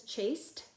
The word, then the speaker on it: chased: okay so chase chases if it says chased even though it sounds like a T chased it's actually an ad notice you don't add an